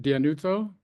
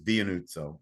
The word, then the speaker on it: Dianuzzo: is it Dianuzzo? Close enough. Good enough. Everybody in my family says it differently, so I've never been thin-skinned about it. How do you say it? I say it Dianuzzo, but Dianuzzo.